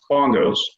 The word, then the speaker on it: BNGOS: For example, the spelling of the BNGOS departure is pronounced bongos.